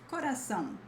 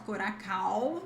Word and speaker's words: coração: We also have coração. Coração, not coracão, not coracão, coração. Sound, yeah, it's like that. Not exactly sound as in pão, but coração. Coração.